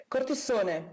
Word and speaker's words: Cortissone: And am I pronouncing the last name properly? Cortissone? Cortissone.